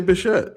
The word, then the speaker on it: Bichette: But when I had his baseball card, It's Dante Bichette.